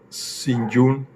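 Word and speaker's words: St. John: El inspector Strafford de nombre San John se pronuncia Sinun explicaba fatigado.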